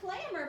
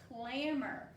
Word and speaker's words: clamber: And the word is clamor, but look what letter it's got here. It's got a B in that word, and the B is silent, but the word is clamor.